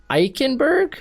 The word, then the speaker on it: Eichenberg: And the Chicago Bears, they get Liam Eichenberg, I believe, is how people are now telling me it's pronounced.